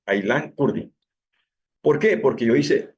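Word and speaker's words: Aylan Kurdi: Así se pronuncia como está escrito, Ailan Curdi.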